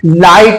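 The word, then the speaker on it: light: ही सुना गया हो जब किसी लफ्ज के आखिर में जी एचटी आए तो जीएच साइलेंट होता है फॉर एग्जांपल मसलन लाइट में जी एचटी लास्ट में आया तो हमारा जो है जीएच हमारा साइलेंट हो गया इससे माइट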